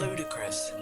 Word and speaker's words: ludicrous: Ludicrous. Or ludicrous. The schwa. The E sound tends to become a schwa sound in American accent.